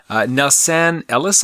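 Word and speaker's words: Nelsan Ellis: news True Blood actor nufs Anne Ellis I believe is how you say it I'm 39 dies from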